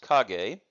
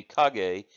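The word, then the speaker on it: 陰: cog a character so this character which is pronounced cog a can mean shadow but is more frequently used to talk about shade but it also has some other meanings and it is pronounced not only cog a but is also pronounced in I am in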